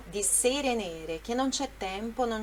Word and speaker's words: nere: assim, di sere nere, então ele dá entonação na última sílaba, né? Nere, mas é nere, tá bom?